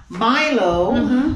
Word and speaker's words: Milo: So we have in here, we have Milo, which this is the Jamaican pronunciation, M-I-L-O. We call it Milo. And that's we say Milo. And in Kenya, they say Milo.